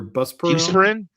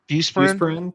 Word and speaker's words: Buspirone: But buspirone or busperone? Buspirone. Yeah, maybe.